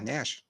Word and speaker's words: Nash: Yeah, Nash. You're right. Not MASH, guys. Nash.